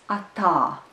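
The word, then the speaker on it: atā: tah tah tah and here the second syllable is stressed the second letter R is also long the first up is short and the word is at all at all at all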